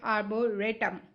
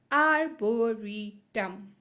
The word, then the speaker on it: arboretum: I could have pronounced it as arboretum, but no, this is not ray. So I wrote R-double-E. But if it was ray, I would have written R-A-Y to show it's a ray, not a re. But here it's a re, so re. Arboretum.